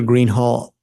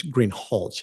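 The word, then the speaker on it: Greenhalgh: you your honor officer Greenhall I believe I'm mispronouncing your name it's green hch isn't it correct okay I apologize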